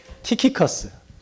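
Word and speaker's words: Tychicus: 만들었어요 그래서 두기고가 뭐냐면 키커스 TY CH cus 키커스 이게 좀 그리스 발음이 에베소 사람인데 그 70인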